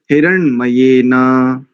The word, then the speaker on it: हिरण्मयेन: देखो, हिरण, जैसे हिरण मतलब एक एक पशु होता है ना, हिरण, हिरण का उच्चारण हिरण कर दीजिए, उसके बाद मयेना, हिरण मयेना, ऐसा करेंगे, ठीक है।